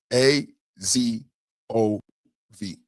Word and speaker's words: Azov: The correct spelling and pronunciation. A Z O V Azov Brigade, formerly Azov Battalion, has documented historical roots in neo-Nazi far-right circles.